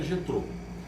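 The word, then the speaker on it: Jetro: Na verdade, Jetrô, é que a gente que fala português, a gente não consegue falar o J do jeito que fala o espanhol, né? Mas porque o J tem essa pronúncia aqui, nesse caso, mas é Jetrô.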